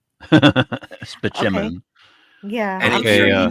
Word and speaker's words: Spaceman: I have a doctor named Spaceman, but it's pronounced Spachemin. Spachemin.